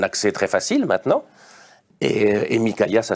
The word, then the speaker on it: Mykaïa: Et Mikaïa, ça s'écrit M-Y-K-A-I-A, pour ceux qui voudraient savoir.